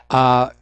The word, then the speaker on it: Kanye: do you remember I'm not sure how to pronounce his name Kanye West or Kayne West Kanye Kanye West thank you Kanye West he's been